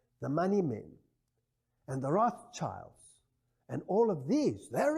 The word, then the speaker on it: Rothschild: Now, this word Rothschild is, of course, a total mispronunciation. It's a German word, and it means Rothschild, and Rot is red, and Schild is a shield.